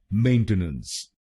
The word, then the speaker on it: maintenance: तो बनेगा मेंटेनेंस, मेंटेनेंस, मेंटेनेंस, मेंटेनेंस, मेंटेनेंस, मेंटेनेंस। और ये ध्यान में रखिए कि हमको पहले शब्दांश पर यानी MAIN पर जोर डालना है।